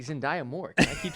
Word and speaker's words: Zendaya: it zendaya i'm pretty sure it's zendaya it's zendaya and that we've been saying you're wrong for